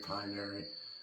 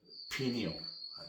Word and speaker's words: pineal: I've heard it pineary, okay. Pineal, that's it, I'm saying it wrong.